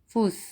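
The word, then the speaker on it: Fuß: ठीक है, इसको कई स्टूडेंट्स बी की तरह अदा करते हैं, तो ये बी नहीं है, एस सेट है और इसकी आवाज़ सीन की जैसी आएगी, जैसे सीन होता है। और इसकी एग्जांपल है फुस, फुस यानी कि पाँव।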